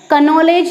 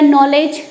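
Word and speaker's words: knowledge: आप क्या पढ़ते हैं, के बाद जस्ट एन आ रहा है, कनॉलेज या नॉलेज, तो इसको पढ़ा जाता है नॉलेज।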